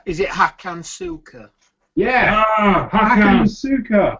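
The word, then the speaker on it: Hakan Şükür: Hakan Suka.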